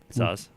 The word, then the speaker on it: Saaz: How do you pronounce it? Hallertau. Hallertau, Hallertau, and then Tettnang, yeah, and then what's the S? Saaz.